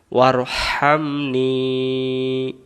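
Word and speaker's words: وارحمني: তারপরে ওয়ারহামনি, নুন অক্ষরটা টান দিব 3 আলিফ সম পরিমাণ। 3 আলিফ যদি দিতে না পারি 1 আলিফ টান দিলেই জেরের পর ইয়া অক্ষরটা উচ্চারণ হয়ে যায়।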